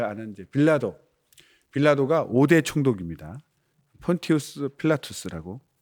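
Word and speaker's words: Pontius Pilatus: 폰티우스 필라투스라고 이제 발음하죠.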